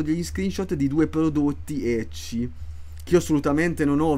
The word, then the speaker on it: ecchi: Bayonetta non è un gioco ecchi. Ecchi, che è scritto semplicemente con l'H molte volte, la pronuncia giapponese English della lettera H, che non è hentai.